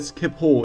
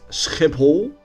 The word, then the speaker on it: Schiphol: Oh, and by the way, did you know that Schiphol is actually pronounced as Schiphol in Dutch?